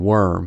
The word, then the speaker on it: worm: The key is to know that warm has o sound and worm has a sound.